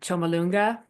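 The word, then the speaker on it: Chomolungma: Everest um CH Eric I'm going to say it wrong chalunga is it means the mother goddess Earth is is what the Tibetans named you nailed it that's exactly right all right mother goddess Earth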